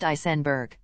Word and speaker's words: Eisenberg: below her right shoulder her last name is pronounced isenberg Sabrina disappeared from her family's residence in valo Florida between 12:00 a.m.